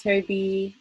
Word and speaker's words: Tobi: little uh beanie hat hi my name is toby uh pronounced babem i'm an interdisciplinary artist i work